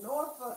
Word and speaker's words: Norfolk: It's Norfolk. It's N-O-R-F-O-L-K. It's not two words. It's one. We pronounce it N-A-W-F-U-K.